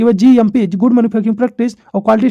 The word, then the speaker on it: cGMP: सी इसमें क्या होता है, साइलेंट रहता है, इसको हम पढ़ते हैं GMP।